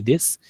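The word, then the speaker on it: です: শব্দটা হচ্ছে দেশু, কিন্তু আমরা যখন কথা বলি তখন দেশ বলে আর কি, না? কথা বলার সময় দেশ উচ্চারণ করে আর কি, দেশু বলে না আর কি।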